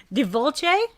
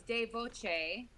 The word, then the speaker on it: De Voce: But it's De Volce. Did I say that right? De Volce. You are so close. There's just not an L, so it's De Voce.